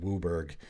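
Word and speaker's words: WUBRG: pronounce it it just has become to be pronounced wooberg even though there might be some vowels missing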